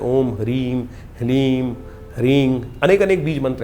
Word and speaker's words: ह्लीम: ह के पैर में र है, फिर उसमें साथ ही में ल लगा हुआ है और ऊपर से बड़ी की मात्रा बिंदी, ओम ह्लीम। इसका उच्चारण इस प्रकार से है।